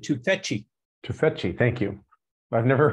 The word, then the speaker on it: Tufekci: And she pronounces it Tufekci.